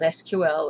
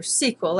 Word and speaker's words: SQL: We're going to show you a little bit of the language called SQL or SQL. I've heard it pronounced both ways.